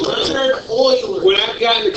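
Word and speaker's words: Leonhard: Yeah, it's not Leon Hard, it is Leonard, because he's Swiss. That's how you say Leonard in Swiss.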